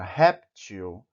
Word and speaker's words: réptil: pronunciada da palavra por exemplo a palavra réptil você inclusive eu tenho um assento na primeira sílaba que diz que aí deve ser pronunciada mais forte réptil tão bill não